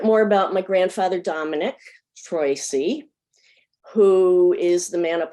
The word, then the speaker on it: Troisi: She married a man named Beniamino Troisi, which they pronounced Troisi in the US.